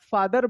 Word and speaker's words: father: ही इज माय फादर, तो जब भी आप फादर बोलते हैं, क्या बोलते हैं? फादर, FATHER, तो ये R साइलेंट हो जाता है, फादर।